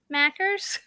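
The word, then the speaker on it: Maccas: it because you guys are like oh it's pronounced this way mackers no ma is there a ma what about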